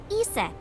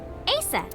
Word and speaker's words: Isis: named isis yep but in ancient egyptian it's pronounced closer to isa or asa hmm how do i